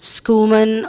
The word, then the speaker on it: Schumann: Schumann or Schumann uh usually I I would say Schumann actually the spelling is s-c-h-u-m-a-n-n so there is the word human and there is SC so you can pronounce it whatever way you want you know schoeman or Schumann or Schumann but this is something